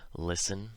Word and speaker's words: listen: So, of course, there are words where this happens, where the T is always silent, like these ones. Listen, soften, moisten, fasten, hasten, glisten, and often. You'll notice the endings of these all rhyme with in.